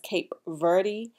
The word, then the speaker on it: Cape Verde: to say about my cape vert ancestry okay and some may pronounce that as cape verde but the thing about